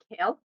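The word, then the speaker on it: CAEL: we actually have a test called kale and to start off we're not talking about the vegetable kale we're talking about tail that's spelled c-a-e-l and it stands for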